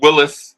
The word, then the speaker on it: Willis: Lewis, right? Am I saying it right? Last name is Lewis. Yeah, I believe so. I'll pull him up. Lewis is Malik. Malik, right? Malik Willis.